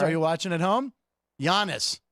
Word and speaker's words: Giannis: Giannis. I didn't hard G it.